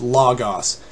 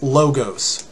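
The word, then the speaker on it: λόγος: stuff like that one a great example everybody knows the word the word for word in the Greek language was just lagos a lot of people pronounce this logos or logos just like it would somewhat read in English we trends we transliterated letter by letter in English as L o gos but the a non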